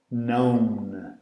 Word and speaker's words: know: Então know, knew, known. Know, knew, known. Estão a ver? O know começa com K ou K, mas não se pronuncia. Diz-se know.